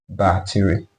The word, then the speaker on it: bar 3: of the number, and this particular case is called bar 3. We pronounce it as bar 3.